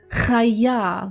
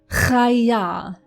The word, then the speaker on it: chaya: And we have the word Chaya with a ch sound for animal or living thing.